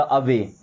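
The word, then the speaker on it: away: ए डब्लू से अब और ए वाई से ए की मात्रा अवे।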